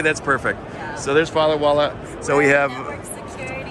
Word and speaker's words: Firewalla: Firewalla? Did I pronounce that right? Okay, that's perfect. Yeah. So there's Firewalla.